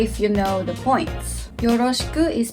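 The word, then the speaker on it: よろしく: you know the points yoroshiku is pronounced so that the ku the ku part is slightly higher it's more natural to not pronounce the last u part so listen carefully yoroshiku onegaishimasu next word is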